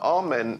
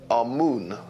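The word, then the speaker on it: Amun: important deities was amen now amen is the pronunciation that the Hebrews give it and some Scholars agree to use that pronunciation amoon is the pronunciation given to it by one of the old European scholars plutar in the language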